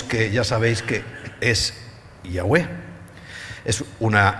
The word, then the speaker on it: Yahweh: Entonces, yo pronuncio Yahweh, pero él pronuncia Jehová. Nunca Jehová, porque es que la J no está ahí.